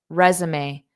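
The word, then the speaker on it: résumé: extra copies of her resume to every job interview. What do you think? A, B, C, or D? And notice that pronunciation of resume. Resume. We borrow this word from French pronunciation, resume, resume.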